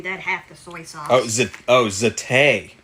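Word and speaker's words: za'atar: Zatay. Oh, it's Middle Eastern, so it's pronounced zatay.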